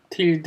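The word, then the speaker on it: tilde: 200 특급 가치 있는 틸드 이거는 틸드 라고 발음을 해 주셔야 되요 그가 보통 이걸 우리가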